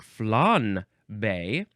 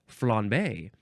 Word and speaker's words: flambé: You can also pronounce it, it looks like flanbe, but just with a subtle N, flambe. But it's spelled with an M.